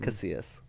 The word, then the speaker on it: Casillas: I was telling Tony Castillas this last night. Tony Castillas. Tony Castillas. And did I say his name wrong? Yes. What's his name? Casillas. You're adding an extra T.